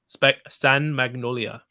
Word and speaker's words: San Magnolia: San Magnolia.